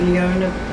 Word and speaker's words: Leona: It's Leona, it rhymes with Madonna.